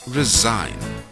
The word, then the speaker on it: resign: is silent in Wednesday the G is silent in resign the gh is silent